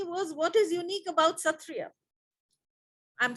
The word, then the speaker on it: Sattriya: the international phonetic association where the sa is pronounced like a kh sound or just to explain it better for you bach b a c h the c h like that lock loch ness monster and all that so